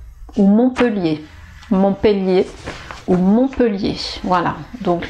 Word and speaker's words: Montpellier: rapport aux 1,1 donc alors est-ce qu'on doit prononcer et où eux et bien en fait ici les deux sont possibles donc vous pourriez prononcé mon peut lier même si vous avez deux est normalement avec deux ailes ou devrait dire et mais là c'est admis voilà donc on peut dire les deux montpellier montpellier montpellier ou